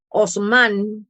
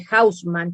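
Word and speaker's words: Haussmann: había hecho sobre todo osman que se escribe con h houseman también se podría pronunciar pero en realidad osman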